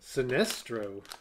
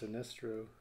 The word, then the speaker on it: Sinestro: not green what is this oh um um sinestro oh no we got the bad guy yep that's the bad guy for greenland that's sinestro i'm probably not saying his name wrong right